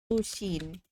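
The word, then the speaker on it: Pusheen: Pushin.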